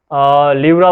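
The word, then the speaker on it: pleura: Muscle से covered है जिसको हम लिवरा बोलते हैं, right. P is silent here.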